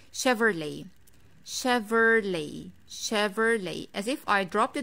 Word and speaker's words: Chevrolet: is quite easy but we have to take care of two vowels in this brand the first e and the second o i do not pronounce